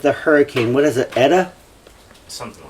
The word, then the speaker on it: Eta: What is it, Eta? Something like that. Or Ada? I hear people arguing about the pronunciation, but it's Eta to me, because I know that Latin can be pronounced many different ways.